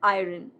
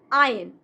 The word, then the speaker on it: iron: Next, iron. It's not iron. Iron.